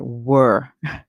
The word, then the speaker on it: were: Here we have the word were, and we hear the W make the sound W. The ER here says and the E at the end is silent.